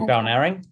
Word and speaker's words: Balnarring: We worked on the primary toolkits with, I always say it wrong, Balnarring. Yeah, Balnarring.